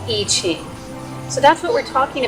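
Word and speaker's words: I Ching: being you know derivative more of the chinese language sound would be something uh like the yi yi but mainly over here in the west we we call it and i guess west is relative compared to where you're at but we call it the eachine so that's what we're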